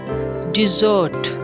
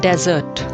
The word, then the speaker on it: dessert: chocolate chalk lut chocolate dessert dessert it means sweet dish that you get after dinner don't pronounce it as desert that means registan it's dessert are silent dessert menu menu